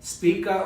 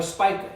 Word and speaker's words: Spica: toward the southeast to a star called Spica or Spica. You can pronounce it either way.